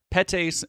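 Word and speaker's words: PETase: Uh ACE ace, sorry, that's how they say it. Pase and medase.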